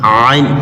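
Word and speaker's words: عين: যেমন কি প, জ, জ নরম হবে, এখানেও জিহ্বার আগা আর এই দাঁতের আগার সঙ্গে লাগাবো, জ, আইন, আইন গলার ভিতর থেকে মাঝখান থেকে আইন।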